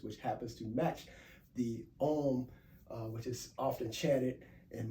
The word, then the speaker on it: Om: Not we spell it O-M, but it's actually pronounced A-U-M. Om.